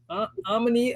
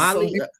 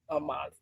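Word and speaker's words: Amalie: Omni Arena. That's it. In Tampa Bay, Florida. Y'all see the That's team? it. We were there. That was Amali Arena. Yeah. Amali. Anyway.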